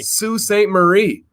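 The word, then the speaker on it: Sault Ste. Marie: you pronounce this man it's just saint marie sue saint marie people outside of michigan probably would not pronounce it that way so we're gonna go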